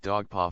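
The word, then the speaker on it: Dugpa: Tibet is deprecated or they themselves pronounce it dog paw from the root to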